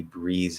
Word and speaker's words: breathes: drop the th a voiced th to z because that's what it is it's a z sound at the end of that you can drop the voice th breeze breeze he breathes heavily breathes heavily or